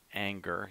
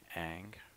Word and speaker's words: Ingres: a goose Dominique egg it's spelled ing re s but you don't say anger you say egg it's called Raphael and